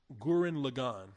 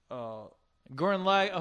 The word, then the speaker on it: Gurren Lagann: Gurren Lagann. Gurren? You ain't never heard of that shit, have you? No. If you're saying it right, Gurren. Gurren, L-A, or is it L-E? Gurren Lagann.